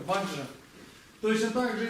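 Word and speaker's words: वज्र: Дело в том, что на тибетский манер очень часто мантры произносятся совершенно не так, как они пишут на санскрите. То есть мы с вами убедились, что то, что мы часто произносим как бадра или бенза, на самом деле это ваджра.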